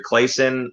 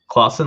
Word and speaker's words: Claussen: it wrong it was either clayson or claussen claussen like the pickle i think like the